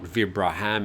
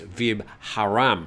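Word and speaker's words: Vibharam: I pronounced it incorrectly yesterday, and it looks like they've printed it incorrectly. It's not Vibraham, it's Vib Haram Hospital.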